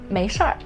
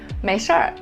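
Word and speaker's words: 没事儿: Alright, the next one, 没事儿. 没事儿. Pay attention to the pronunciation of this phrase. You have to add er at the end of the two characters.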